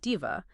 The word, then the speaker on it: DIHVA: And just so we're all on the same page for this deep dive, we'll be pronouncing it like DIVA.